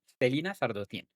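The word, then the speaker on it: Celaena Sardothien: Se escribe de una manera muy rara, comoa te se alena más o menos, pero pues yo lo pronuncio como Stelina Sardotien, que es una asesina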